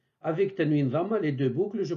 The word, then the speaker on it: ط: ce point d'articulation donc la 16e lettre de l'alphabet ta se prononce au niveau de la pointe de la langue qui vient toucher l'avant du palais au niveau des incisives supérieurs ta ta c'est l'équivalent de ta du français tel que dans les